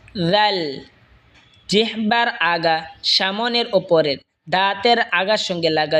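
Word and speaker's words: ضاد: এরপর হলো দত। জিহ্বার আগার কিনারা ওপরের মারের দাঁতের গোড়ার সঙ্গে লাগা উচ্চারণ হবে দত।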